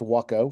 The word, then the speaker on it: Waco: 1936 Waco, spelled like Waco, the city, but pronounced Waco for it's how the company's pronounced. The 1936 Waco biplane, a two-seater with duplicate controls in the front and rear seats.